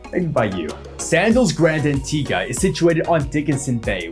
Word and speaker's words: Antigua: Resorts throughout the region onto the island of Antigua yes the pronunciation is Antigua not Antigua as many would commonly think local